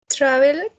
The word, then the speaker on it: traveled: Traveled. Travel. Traveled. Very good. Traveled. Very good, Laurita. Good pronunciation. Traveled. Esa Thank you, ed teacher. suena como una D, ¿no?